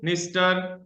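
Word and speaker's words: Dniester: ये 4 नदियां हैं, पहली हो गई डैनूब, पहली हो गई डैनूब जो सबसे बड़ी नदी है, दूसरी हो गई निस्टर, ये डी साइलेंट है, निस्टर, इसको निस्टर पढ़ेंगे।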